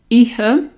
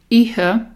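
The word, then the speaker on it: Oíche: You think it should start with an O, but it doesn't. The O is silent.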